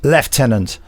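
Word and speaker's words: Lieutenant: by Sai Grant and left Tennant is pronounced left Tennant not sure why but there's bound to be some reason for it because it's the British way of doing it now to the rest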